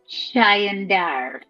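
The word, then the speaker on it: Chaendaer: They pronounced it Chayandar.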